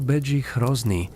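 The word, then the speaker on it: Bedřich Hrozný: Begi Hrosny, pronunciado Beie Hrosney, un lingüista chco, fue fundamental.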